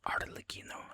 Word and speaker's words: Arlecchino: I don't think Arlecchino, or Arlecchino, I think is the more correct pronunciation, but, I'm a dumb